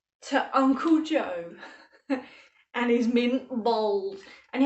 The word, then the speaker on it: Mint Balls: uncle joe and his mint bowls and you have to say bowls because that's how they say it in wigan uncle jaws mint bowls